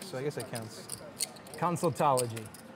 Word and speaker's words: consultology: Consultology. Like that? Is that helping remove people's tonsils? Not tonsultology. Consultology. Come on. If you're going to say it on national TV, you got to say it right. Consultology.